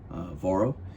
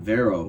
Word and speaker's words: Varo: Once again, Varo, if you would. Most people can't pronounce that right, so I just go by. So Varo, not Vero, Varo.